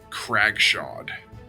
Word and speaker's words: Cragshod: Cragshod.